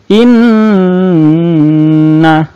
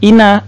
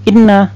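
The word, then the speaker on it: إِنَّا: huruf mim nah Hai Jadi dibacanya in nah ditahan tidak boleh hanya Ina atau Inna salah kurang panjang Inna nah seperti itu ya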